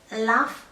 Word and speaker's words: lough: So the Scottish Gaelic is loch, the Irish Gaelic is lough. Apparently it's pronounced this way. I asked some Irish people.